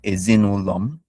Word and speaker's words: ezinụlọ: Okay, so this is the tonal markings to help guide you with the pronunciation. So the one going down towards the right is the low tone. The one going up towards the right is the high tone.